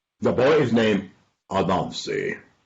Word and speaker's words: Anansi: I had to ask my teacher one day, how do you spell Anansi when I was in grade school? She said his name is spelled A-N-A-N-S-I. A-N-A-N-S-I. A-N-A-N-S-I. I said, teacher! Yes, young man. A-N-A-N-S-I. I thought that was a Nancy. No, that his little sister is a Nancy.